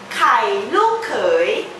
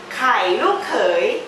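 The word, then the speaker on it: ไข่ลูกเขย: Você pode pronunciar em tailandês kai lu kei, kai lu kei, kai ovo, lu kei é genro, tá bom?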